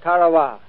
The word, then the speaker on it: Tarawa: island in the mid-pacific called karawa that pronunciation incidentally is from the National Geographic Society that Island will never